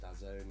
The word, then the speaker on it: DAZN: The fight is going to be hosted on a sports streaming service called DAZN, or DAZN. It's pronounced DAZN. It's a bit weird.